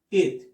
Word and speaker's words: it: It. Repeat. It. It. Es un sonido intermedio entre la I y la E. Es una I corta, muy corta.